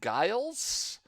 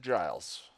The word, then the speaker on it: Giles: I did watch Voyager I did not mispronounce GS and Restless uh I just gave it a weird sort of southery draw and I think it sounds like Guiles but I said Giles I know what I